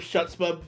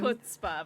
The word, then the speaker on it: chutzpah: Also, Run that pronunciation of Shutspa by you again. chutzpah, my dear.